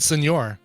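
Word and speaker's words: señor: And senor. Oh, I love it when you call me senor. You don't pronounce it senor. Hey, senor. Senor.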